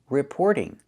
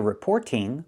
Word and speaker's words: reporting: Reporting. Now, we hear the t change to a fast d because it's between vowels. We don't hear reporting. We hear reporting.